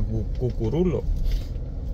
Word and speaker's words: Cucurullo: sabar cucurullo O sea se escribe cucurullo pero se pronuncia cucurulo Entonces esta es la famosa Calle Salvador cucurulo de Santiago de los